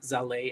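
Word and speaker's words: Zallet: It's like spelled like wallet, but with a Z, and pronounced Zaleh as ballet, which is a full node wallet that ECC is developing.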